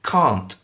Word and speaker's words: can't: And it's can't. Can't. So the opposite of can, the negative of can, it's can't in British English.